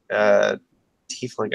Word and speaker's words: tiefling: This is my tiefling tiefling. I don't know how any pronounce this.